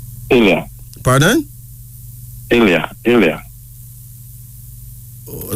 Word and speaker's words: Ilya: so what's your first name India pardon IA Ilya oh spell that i-n-y-e i-l-y-a no Ilya yeah you got